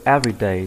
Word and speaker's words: everyday: Chúng ta có từ everyday thì bạn hãy để ý trọng âm rơi vào âm chữ e đấy ạ. Bạn mình sẽ đọc, đọc nhấn mạnh lên là e. Everyday chứ không đọc là everyday.